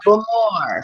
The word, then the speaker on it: Bowmore: Balmore, but it's neither. It was No, it's not Boomore. Balmore. It was Boomore. Bowmore. Boomore. Enunciation in the majority of Scottish distilleries is in the second syllable.